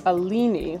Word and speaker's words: Alini: She says, "My name is Alini." Let me know if that is not how you say her name. And it rhymes with fetuccini.